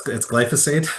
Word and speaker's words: glyphosate: Sure, and yeah, it's glyphosate. It's a tough one to Glyphosate, pronounce.